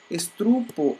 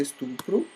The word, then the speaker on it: estupro: Estrupo, ao invés de estupro, né?